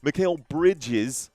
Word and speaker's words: Mikal Bridges: Okay, Mikal Bridges, not Bridgers. It's spelled right here.